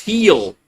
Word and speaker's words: Gil: You think it's pronounced heel? Okay. Heel. G I L is heel. Okay. I I'll take your word for it.